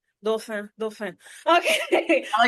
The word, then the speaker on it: Dauphin: Last name pronunciation, English pronunciation is Dauphin, but I like it the French pronunciation because I'm from the Caribbean and it is Dauphin. Dauphin, Dauphin.